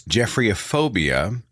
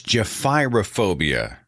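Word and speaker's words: gephyrophobia: I got phonetic wrong I said it is jeffre aphobia it's Jeffy phobia g py r o phobia jobia someone in the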